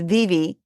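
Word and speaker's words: Vevay: little tiny town called VV Indiana VA a v a y pronounced Viv down in way down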